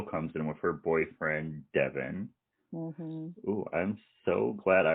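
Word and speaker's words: Devean: You know how Devin would usually be D-E-V-O-N? Yeah. It's D-E-V-E-A-N. What? I almost called him Devon, so... Ooh. And then so Devin gets grilled by all the men of the family.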